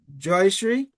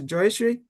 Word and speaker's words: Joyashree: So, I would like to start with Joyashree, Professor Joyashree.